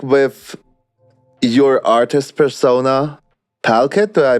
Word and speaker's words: PalKid: And PalKid it's very PalKid. It's 2 syllables.